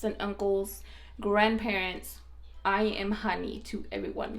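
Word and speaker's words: Jani: I was a little girl and it is honey you can either spell it j a n i or h a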